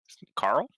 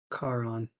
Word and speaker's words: Charon: Carl? Charon. Oh, I thought he said Carl. He says, I think that's also spelled with a C.